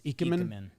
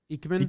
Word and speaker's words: Ikemen: Yeah, I don't know how it's It's pronounced. a soft eye. It's Ikemen, Ikemen. Eichmann.